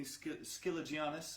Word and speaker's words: Skiligianis: all the time is Jamie Skiligianis, is his surname. That's actually how you say it. I have learned that over the years.